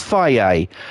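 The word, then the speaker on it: Fage: But yeah, there is a fucking yogurt out there on the market here in the UK called fucking, well, they pronounce it as Faye.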